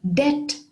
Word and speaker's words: debt: doubted she was fit enough for it and debt is another common word with the silent b